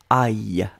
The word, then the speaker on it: aille: Souvenez-vous, on l'écrit comme ça, hein, A-I-L-L. E, et on prononce aïe, aïe, aïe, aïe, aïe, aïe, que j'aille, il faut que j'aille travailler, il faut que j'aille me coucher, etc., etc.